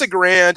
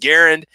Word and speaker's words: Garand: can pronounce a grand I pronounced a garand according to forgotten weapons that was the dying request of the designer of the rifle is that everybody knows his last name was pronounced garand so that's if you call